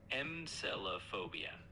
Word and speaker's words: Melophobia: It's pronounced like this. Melophobia. Just take it one syllable at a time and you'll get it. Malopobia.